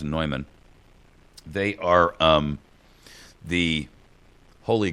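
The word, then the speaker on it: Neumann: by the name of nyman it's spelled like Newman but it's pronounced nyman they are um the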